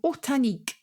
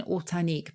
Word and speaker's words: ortanique: Or horta, and the nique is on the end, like picnic.